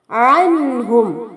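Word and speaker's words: عنهم: അൻഹും ഐനിന്റെ ഉച്ചാരണം ശ്രദ്ധിക്കുക. അൻഹും അംവാലുഹും, ഇവിടെ അൻഹും എന്ന വാക്കിലും അതുപോലെ അംവാലുഹും എന്ന വാക്കിലുമായി 3 സുക്കൂനുള്ള മീമുകളെ കാണാം. ഇവിടെയൊന്നും തന്നെ സുക്കൂനുള്ള മീമിനെ മണിക്കാൻ പാടില്ല. ആ മീം അവിടെ വ്യക്തമായി കേൾക്കുകയും വേണം.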